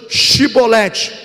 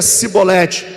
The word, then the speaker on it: chibolete: não então lhe diziam diz pois chibolete porém ele dizia sibolete porque que não podia pronunciar bem então pegavam dele colavam